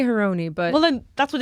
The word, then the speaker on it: Harouni: been saying haruni yeah I think karuni is probably the last I think Arabic pronunciation but I think my family Americanized it I think we go with whatever you say your name I say heroni but well then that's